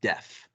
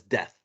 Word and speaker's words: deaf: just never learned how to say the word deaf, as in Deaf? unable to hear. Deaf, Yes, DEAF. yes. I always thought it was death, like As in, like, death.